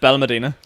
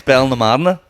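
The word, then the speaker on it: Benalmádena: Ballamerdina. Yeah, that's how everyone says it, but Balmedina. apparently that's wrong. Apparently it's Belnamadina.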